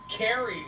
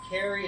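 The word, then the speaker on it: Kari: Carrie and Krupa. Ooh. But spelled with a K. K-A-R-I. Carrie and Krupa.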